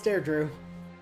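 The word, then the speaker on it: Dedue: escapes his eye though kind of unsettling honestly dare Drew is not how you would have expected that to be pronounced yeah but it is that's how they pronounce dear Drew yep a lot of the names in this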